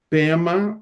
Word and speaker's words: Pema: PEMA é o é a pronúncia tibetana para padma que significa lottus.